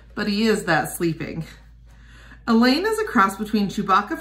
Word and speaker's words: Elaine: Elaine is a cross between Chewbacca from Star Wars and Lois Lane, who rhymes with pain.